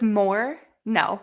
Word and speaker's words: Moreno: to get on dadgummit it's just more no yeah more no yeah more no it's super easy that way yeah no more no more no all right